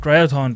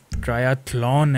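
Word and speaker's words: triathlon: चलो अब हम जाएंगे ट्रायथॉन पे। ट्रायथलॉन है, थलॉन, सॉरी मैं ट्रायथॉन कर रहा हूँ।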